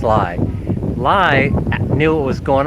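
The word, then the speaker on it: Llay: It's it's lie actually. It's spelled L L A Y, but it's pronounced lie.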